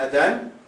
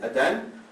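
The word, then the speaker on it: Adhan: the call to the prayer it's called the Adan a d h a n Adan this is the call to the prayer that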